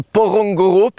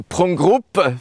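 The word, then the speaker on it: Porongurup: le petit massif du porong Group qu'il vaut mieux d'ailleurs prononcer prong group puisque c'est un nom aborigène et c'est un endroit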